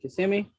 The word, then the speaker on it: Kissimmee: Is it Kissimmee? Hey, you said it perfect.